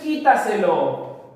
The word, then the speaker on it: quítaselo: La siguiente es quítaselo, quítaselo. La mayor fuerza de voz está en la sílaba qui.